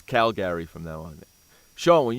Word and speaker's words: Calgary: the chat room there make sure make sure you pronounce Calgary as Cal Gary so that's how I want Cal Gary Cal Gary yeah I